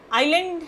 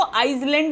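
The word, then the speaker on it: island: द आइलैंड has been denuded of trees, right. सो इसको आइसलैंड नहीं पढ़ते, इसको आइलैंड पढ़ते हैं, ठीक है। एस is silent over here.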